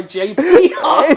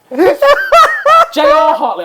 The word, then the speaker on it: J.R. Hartley: And so many people went looking for Fly Fishing by J.P. Hartley that they made it. J.R. Hartley.